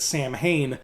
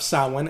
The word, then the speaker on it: Samhain: fact they mispronounced it everybody in that movie called it Samhain which is how it's spelled but not how it's said so Halloween 3 is